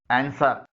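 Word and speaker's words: answer: खामोश होता है जैसे एंसर इसमें डब्लू खामोश है सोर्ड इसमें भी डब्लू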